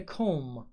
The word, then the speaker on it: comb: let me read a comb comb the bo is silent you should not read it you should not say it brush toothbrush razor nail